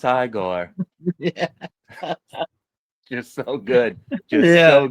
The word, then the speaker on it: Igor: You must be Igigore or Eigore. No, it's pronounced Igore. You're so good. Just so good. It's literally one of my favorite movies. Yeah, it's pronounced Igore.